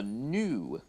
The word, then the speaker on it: gnu: Or a new GNU. That's how it's spelled.